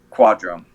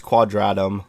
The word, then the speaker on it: Quadratum: of departure Destiny Islands final worlds um and quadrum so a lot of those were actually part of the remind DLC that you didn't play so it's pronounced it's pronounced quadratum but it's okay I can guess I know